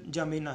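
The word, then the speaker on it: N'Djamena: और इसकी कैपिटल की बात करें, इसका कैपिटल जमीना है। डी एन जे के डी से शुरू होता है, लेकिन जमीना बोला जाता है इसका, बाकी अक्सर साइलेंट रखा जाता है।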